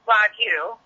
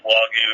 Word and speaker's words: Wagyu: There's lots of, technically it's called Wagyu, but everyone kind of has their own twang to it. So even on our team, the ranchers, Al and myself, we all kind of pronounce it differently. You'll find Wagyu, you'll find Wagyu. Depends on where people are from and what they've heard.